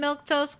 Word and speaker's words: Milquetoast: Uh, before you leave, please remember I'm Milktoast. That's how you say my name.